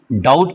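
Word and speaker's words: doubt: हम इसको डाउट ना पढ़कर डाउट पढ़ते हैं। बी होने के बावजूद भी साइलेंट है।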